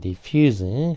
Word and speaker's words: diffuse: diffuse 그러면 이제 동사. 형용사일 때는 보통 이제 스로 발음을 하면 이제 형용사가 돼요. 형용사나 명사일 경우에는 끝에가 스 발음을 하면은 형용사 명사가 되고 즈 발음하면 이제 동사가 되는 거죠.